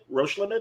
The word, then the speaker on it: Roche Limit: Roche Limited or Roche Limit, or how do you?